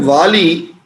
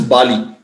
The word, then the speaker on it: Vali: The word Vali, also his name is not only said as Vali, but also quite often pronounced as Bali.